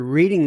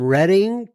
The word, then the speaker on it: Reading: G I am from Reading PA yes Reading Pennsylvania she says uh by the way you know I always wanted to pronounce her reading but I know it's reading and I'm sure people